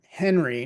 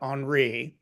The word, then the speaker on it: Henri: Bendle uh not Bendell and Henry not onri I'm going to try